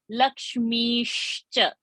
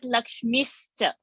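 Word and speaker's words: लक्ष्मीश्च: Lakshmishcha, not Lakshmischa, not Lakshmis. Are you getting the difference? Not miss, mish, Lakshmishcha.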